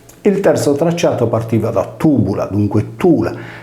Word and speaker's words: Tùbula: Gemellas è diventata una città fantasma poiché finora si era pensato che la città di Tubula, erroneamente pronunciato Tibula, capolinea della strada Tibulas-Caralis, fosse situata nei pressi di Castelsardo.